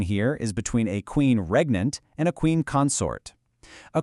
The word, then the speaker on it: regnant: Moving right along to word number three, regnant, pronounced regnant.